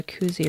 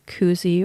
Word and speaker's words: koozie: I don't really know if they call it a koozie or a cozy. It's spelt more like koozie, but to me it's cozy because it has like this beautiful soft interior to protect your pens.